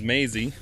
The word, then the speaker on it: Maisie: uh gp's name is Maisie rhymes with Daisy which is their dog's